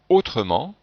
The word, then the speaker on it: autrement: chocs avant le par exemple dans le mot autrement et bien devant le il ya deux consonnes et ici si je ne prononcez pas le e on aurait trois consonnes